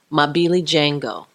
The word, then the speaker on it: Mabilijengo: you said it perfect that is chief lot Ava 'mobile ijen go my Billy Jango I'm actually an Atlanta